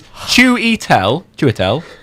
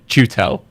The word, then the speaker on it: Chiwetel: It's Chiwetel Ejiofor. So you're supposed to say the J. I think you said Chutel, and I just jumped on you. for. Chiwetel. I think you gotta give that I emphasis.